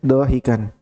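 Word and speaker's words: ضاحكا: Bukan durian bacanya ya. Dohikan.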